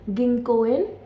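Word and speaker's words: 銀行員: Next word is गिंकोइन। गिंकन। इसमें जो को है वह लॉन्ग साउंड है।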